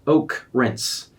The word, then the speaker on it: okrens: the name okrens online yes that's pronounced Oak rinse I'm a software engineer